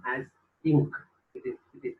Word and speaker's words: Inc.: limited companies are abbreviated in their name as Inc. It is pronounced as Inc.